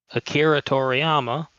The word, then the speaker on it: Akira Toriyama: Sorry, shouldn't have even mispronounced that name considering who he is. Akira Toriyama.